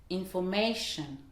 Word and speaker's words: information: Par exemple, information, 4 syllabes, c'est la suffixe ion. Donc, l'accentuation se fera juste avant sur le ma. Ça va donner information, information, information.